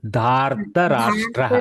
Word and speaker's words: धार्तराष्ट्रः: कर्तुम् अर्हति वदतु वर्ये धृतराष्ट्रस्य न अत्र प्रथमं नाम पश्यतु पठतु सम्यक् धात्राष्ट्रः न धार् अत्र रेपः प्रथमम् उच्चारणीयं धार् इति धार्तराष्ट्रः पुनः वदतु धार्तराष्ट्रः धृतराष्ट्रः अत्र धृतराष्ट्र इति